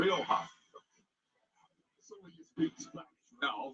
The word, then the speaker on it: Rioja: How do you pronounce it? Rioja.